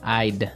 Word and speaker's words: I'd: You'll notice that we don't say I would recommend. Right? We use the contraction I'. I'd I'd recommend.